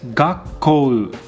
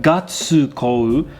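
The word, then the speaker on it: がっこう: of the characters so it is not gatsu but and when we spell this in romaji we double up the consonant that comes after tsu right so it's gakkou with two k's and not with one k two k's because we have the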